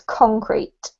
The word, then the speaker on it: concrete: So just as a note, this one has the emphasis on the first syllable, Raphael, so it's concrete.